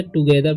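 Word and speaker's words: together: ठीक है, तो प्ले टुगेदर, इधर टुगेदर पढ़ेंगे, टुगेदर। ठीक है। TO से टू पढ़ेंगे और GETHER से गेदर, टुगेदर।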